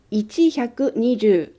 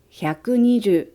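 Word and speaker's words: 百二十: Chữ ichi đầu tiên ở hàng hyaku và sen sẽ không được phát âm. Vì vậy, số này không đọc là ichihyaku, mà đọc là hyaku. Số này cũng không đọc là ichihyaku nijuu. Chúng ta đọc là hyaku nijuu.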